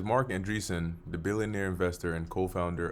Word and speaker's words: Andreessen: Let's see how we pronounce that name. Mark Andreessen.